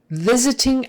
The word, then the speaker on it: visiting: visiting visiting it's visiting probably the reason why the S is pronounced like a z is because that first sound V is a voiced sound and remember um we